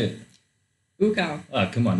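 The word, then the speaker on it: Ucal: I tend to say Ukal, but I have been told this is wrong. It is wrong. She knows how to say it. How do you say it? Ukal.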